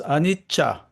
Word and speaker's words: anicca: Dexter, if I may just correct one pronunciation, Sanskrit, not anicca, but it's anicca. Cha. Anicca.